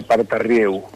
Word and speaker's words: Paterrieux: Acá, acriollado sería Partarrieu. Parterrieu. Bueno, ¿y si no? Partarrieu. Y no, si no en francés, ya, digamos, no es mi especialidad.